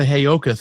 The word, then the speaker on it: Heyoka: Did I get the Heyoka thing right? Did I pronounce that right?